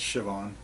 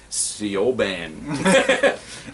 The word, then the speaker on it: Siobhan: It's Siobhan. See? I knew you'd be able to do it. And I was like, Siobhan.